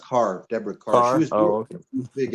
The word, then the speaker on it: Kerr: this is May 1968 he says Deborah Kerr Deborah Carr yeah it's pronounced Carr Deborah Carr she was big a beautiful woman like uh fashion model type actors I I I thought I always thought it was Kerr oh well no I always heard it pronounced